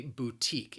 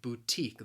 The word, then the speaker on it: boutique: say it is a boutique it has two syllables the stress again is on that second syllable and of course with